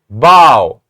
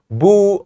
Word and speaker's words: bow: our letter string and we said it bow bow not b not boo or anything else but bow if you say this